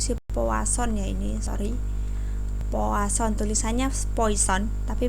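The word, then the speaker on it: Poisson: didistribusikan dengan istrinya sepuas on ya ini Sorry poasan tulisannya foison Tapi bacanya floats on the Hai banyaknya antrian jadi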